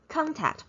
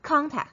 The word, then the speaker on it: contact: it's a schwa er however here contact contact is stressed it's a stress syllable that's why it's here the o is no longer the schwa instead it's contact contact but um karen in